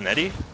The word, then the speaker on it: Nettie: Oh, it's pronounced Nettie? Yeah, Nettie. And everyone gets it wrong sometimes. It's Irish. Oh, yeah. Okay. Think of it like Heidi, but with an N.